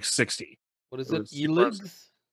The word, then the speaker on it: ELEX: Elix? Elix. How do you spell it? It's like EXEL or something like that. Like Elixir?